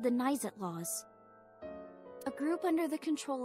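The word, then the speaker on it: Naixatloz: So, first off, about Nizet Laws. It's spelled N-A-I-X-A-T-L-O-Z.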